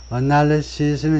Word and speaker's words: analysis: SC analysis have found analysis 이제 분석들 단수는 이렇게 되고요 analysis S 하면 단수 SES 하면 복수고 발음은 단수는 맨 뒤에다가 스 발음을 내고 복수는 이제 맨 뒤에 자음소리 즈로 구별하는데 우 하면 복수 시스